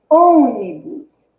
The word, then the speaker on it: ônibus: Qual é mais forte? É o on, que ocupa qual posição na palavra? Ocupa a terceira posição, né?